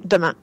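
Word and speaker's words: Demain: Es una película francesa, se escribe The Main y se pronuncia Demà, como ha dicho Pai.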